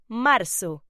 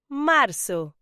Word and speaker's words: marzo: March in Spanish is pronounced marzo. Say it with me. Marzo.